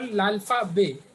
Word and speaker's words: l'alphabet: this we call l'alphabet. T is silent here. L'alphabet.